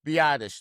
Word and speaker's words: Biadasz: Biadasz.